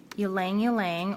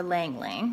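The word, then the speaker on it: ylang-ylang: got lavender and vanilla you lang you lang or lang lang depending on how you say it and Mandarin and then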